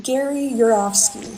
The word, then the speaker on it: Yourofsky: Gary Gary Yurovsky, spelled like Yourofsky. You're of Sky.